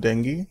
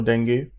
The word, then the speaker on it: dengue: We couldn't put it out because I was down with dengue, or dengue, like it's pronounced based on where you live in the world.